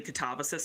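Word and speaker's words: katabasis: Like Catabasis, the descent into hell. I'm like, it's technically Catabasis.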